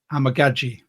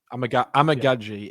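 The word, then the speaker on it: Amegadjie: And I went, and I'd like to thank Mitch for this because I've been pronouncing it wrong for so long. It's Kieran Amagaji, the tackle from Yale.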